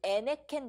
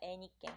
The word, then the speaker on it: 에네켄: 그래서 요 멕시코나 쿠바에서는 요 에네켄 농장이라고 하는데, 애니깽이라고 해서 우리나라 사람들 발음하기 어려우니까 애니깽.